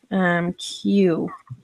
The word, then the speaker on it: queue: Because Q, it should just be spelled like that with just the letter Q and be done.